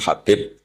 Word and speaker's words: Habib: Ada yang nulis Abi Abdurrahman Habib Asulami. Itu di harakatnya kitab itu ada yang nulis khubb. L yang benar. Oh nggih. Yang benar itu bacanya habib. Habib itu sulami itu ikut marga Rabiah itu.